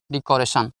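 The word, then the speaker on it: decoration: আই ও এন সান ডিকরেশন সবসময় তোমাদেরকে মনে রাখতে হবে ইংরেজি বড় বড় শব্দ শেষে যখন টি আই ও এন থাকবে এর উচ্চারণ সন হয় তালবস দন্তান্য সান ডিকোরেশন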